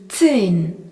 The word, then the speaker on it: zehn: Le nombre 10 se dit zehn, Z-E-H-N. Dans le mot zehn, on remarque le Z qui se prononce T et le H qui prolonge la voyelle E qui se dit E.